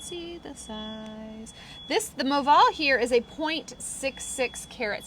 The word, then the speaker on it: Moval: here with a rahamanov diamond that's called the Moval so it's spelled m-o-v-a-l it is their specific cut it's